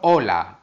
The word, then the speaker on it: hola: Importante, la letra H no se pronuncia, no tiene sonido. Como por ejemplo, hola, hotel.